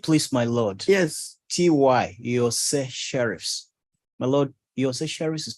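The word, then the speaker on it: Iorse Sheriffs: Yose Sheriffs. My Lord, Yose Sheriffs is spelled I-O-R-S-E. Come again. I-O-R-S-E hyphen S-H-E-R-I-F-F-S. How did you pronounce it? Yose Sheriffs. The I is pronounced like a Y.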